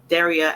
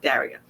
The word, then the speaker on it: Daria: So I apologize to Daria because her name is actually pronounced Daria and not Daria.